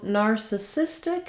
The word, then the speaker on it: narcissistic: in your everyday speech so narcissistic has four syllables narcissistic you hear how i lengthen and stretch on the cis syllable this is the stress syllable and it has a clear vowel that means the other syllables are going to go by a little bit more quickly and be unstressed we do also have